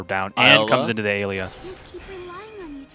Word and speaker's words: Ayla: and comes into the Alia. How do you say it? Alia? Ala. Ala? I mean, there's not the L-I-A, right? Or L-E-A. It's Ayla.